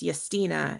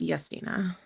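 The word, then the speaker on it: Justyna: my friend from Poland her name is Yestina. It looks like Justina but it's Yina.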